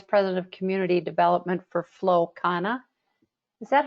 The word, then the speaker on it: Flow Kana: She is currently the Vice President of Community Development for Flow Kana. Is that how you say it, Amanda? Flow Kana?